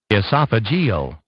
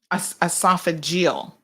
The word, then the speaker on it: esophageal: it's esophageal but let me just double check esophageal esophageal which is part of esophagus yes esophageal cancers